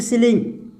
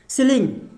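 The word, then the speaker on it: ceiling: उच्चारण आपको दिखाई दे, तो उसका उच्चारण सामान्यतः क्या होता है, ई होता है, बड़ी ई होता है। जैसे कि यहाँ पे फॉर एग्जांपल यहाँ पे एक वर्ड ले लेते हैं, जैसे सीलिंग, CEILLING, सीलिंग। इसको क्या पढ़ेंगे, सीलिंग।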